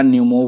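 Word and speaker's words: pneumo: human Meta न्यूमो virus यह पी का नाम देक के आप यह मत समझना कि यह पी से बोला जाएगा कुछ एक्चुअली में निमोनिया की स्पेलिंग आप पढ़ते ही आए होगे बचपन से ही कि निमोनिया पी से शुरू होता है तो वो वही है कि मेटा न्यूमो वायरस है तो पढ़ा जाएगा मेटा न्यूमो वायरस और एचएम पीवी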